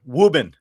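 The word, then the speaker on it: Woburn: Really the pride of Wuburn, Massachusetts. Can you spell that? Wuburn. Wuben. New England. We like to say Wuben. The pride of Wuben.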